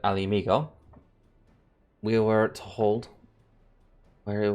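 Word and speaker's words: Ala Mhigo: struck but Bound for El Amigo that's how you pronounce it Ali amigo we were to hold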